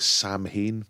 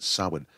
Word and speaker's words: Samhain: It looks like Samhain, but apparently you pronounce it Samhain.